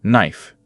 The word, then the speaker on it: knife: We say knife. The word knife begins with a silent K. We say knife.